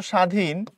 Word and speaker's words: স্বাধীন: কিন্তু তুমি যখন এখানে বলতেছো স্বাধীন এখানে বফলার কোন প্রভাবই নাই।